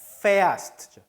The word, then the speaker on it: fährst: Du umlaut가 들어갔네요. fährst. Du fährst. 발음이 달라졌죠. umlaut 때문에.